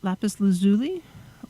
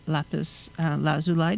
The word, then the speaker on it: lapis lazuli: own own cleanser um lapis lazuli or lapis lazuli depending on how you um pronounce it is good